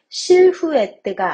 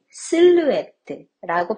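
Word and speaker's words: silhouette: 그림자 등을 뜻하는 단어인데요 여기서 h가 묵음이에요 프랑스에서 보통 h는 묵음으로 발음을 안 하는데요 그래서 실후에뜨가 아닌 실루엣들라고 발음합니다 패션에서 실루엣은 옷을 착용한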